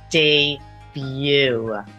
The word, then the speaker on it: debut: on television last night that final T is also silent day View and lastly in my